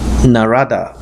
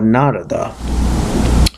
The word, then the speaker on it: Narada: I asked these questions to the great rishi narada or narada some people pronounce it Narada some people pronounce hoon has